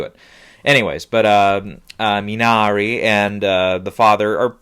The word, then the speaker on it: Minari: i mean the father minari or sorry i'm mispronouncing that's minari i've heard multiple sources minari like an italian that's what i'm going